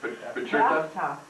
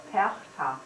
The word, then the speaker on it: Perchta: Patricia? Perchta.